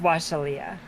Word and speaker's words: Wa'Shalya: So I spelled it WA'Shalya. Washal. That's pronounced Washalia. Washalia.